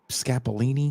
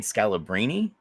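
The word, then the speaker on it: Scalabrine: Brian Scap Scapalini. Am I saying it right? Brian Scalabbrini.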